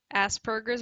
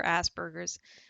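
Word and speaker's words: Asperger's: hate fact ASMR video Aspergers or Asbergers uh you either pronunciation is acceptable either Aspergers or Asbergers I think it's a German name so you never know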